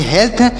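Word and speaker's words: health: है स्वस्थ होता है हेल्थ मतलब स्वस्थ होता है एच ई ए एल टी एच टी एच का उच्चारण ठ भी होता है और थ भी होता है दोनों होता है लेकिन यहां पर हम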